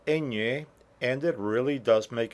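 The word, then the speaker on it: eñe: separate letter uh uh in English we have the sound of the enye we say onion we say Canyon we say cognac but we do not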